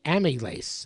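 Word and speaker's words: amylase: just looked it up the enzyme is called amace m a pronounce it a m y l a s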